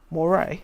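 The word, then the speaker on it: moiré: going to go F10 kroog how do you pronounce this word Moray Moray okay yes there is a cool Moray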